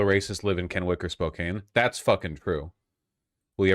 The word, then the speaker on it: Spokane: It's pronounced Spokane, FYI.